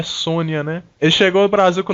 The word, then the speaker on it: Sonja: em 85 que chama red sonja que na verdade a pronúncia é sônia nem chegou ao brasil